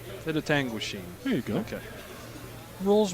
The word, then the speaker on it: Penetanguishene: And their opponent, who John will pronounce for me, has the hammer. Penetanguishene. Penetanguishene.